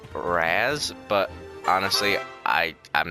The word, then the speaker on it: Raz: move up to sandbags they pronounce his name Raz but honestly I am